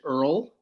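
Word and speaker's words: Oil: band that uh started spelled o-i-l but they pronounced it Earl because apparently that's they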